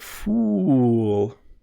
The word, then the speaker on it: fool: It's kind of like, it's described as a full rounded sound. Full, full. But fool is more like zoo, ooh, ooh. So that's the difference there.